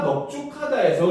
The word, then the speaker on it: 넓죽하다: 넓죽하다는 발음을 하게 되면 넓죽하다 비읍으로 발음이 나요.